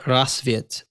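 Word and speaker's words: Rassvet: you please oh yes tell me how to pronounce this well cole this area where sokolov is being held it's called rasviet and it was fit uh you know french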